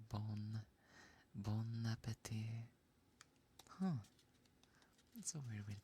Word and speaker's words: appétit: So instead of apple, it's appétit. Appétit. And yeah, bon. Instead of like bone, it's bon. Bon appétit.